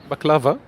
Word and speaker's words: baklava: you just pronounce it here it's a bit lower but baklava which is the Turkish way but it's not the